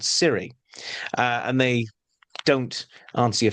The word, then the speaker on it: cirri: cape is covered in tiny spike-like projections called cirri. And they don't answer your phone for you. These are cirri spelt with a C-I-R-R-I.